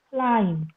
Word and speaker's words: climb: Okay, the last B is silent. It is bomb, comb, dumb, land, climb, thumb, tum.